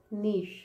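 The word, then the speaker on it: niche: इसको कैसे, cliché, cliché है ना, और ये क्या है, इसका साउंड इज नीश, सॉरी इसका साउंड मैं बताती हूँ, क्लीशे, क्लीशे, और ये है नीश, नीश, ऐसा, ठीक है।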